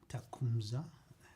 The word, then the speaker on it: Tecumseh: Tecumseh. Hemorrhage. Okay. Those were the two pronunciations I wanted Yeah, to so get it's corrected.